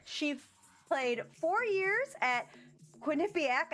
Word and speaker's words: Quinnipiac: played four years at Quinnipiac I had to write that out phonetically because if you see that it's not nice not you know she's